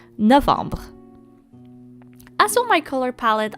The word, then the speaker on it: novembre: So I actually didn't make a mistake writing down November because that's how we would write it in French, and it's pronounced Novembre.